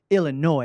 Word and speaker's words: Illinois: you're not from Illinois because we don't say the S. And I was like, well, why is there's an S? I'm trying to enunciate all of my words and syllables. And she's like, nope, it's Illinois.